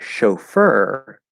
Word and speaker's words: chauffeur: and it creates ch in the word chauffeur that is not a ch sound okay i wouldn't even just i wouldn't even describe it as a fancy ch it is an sh sound okay so it's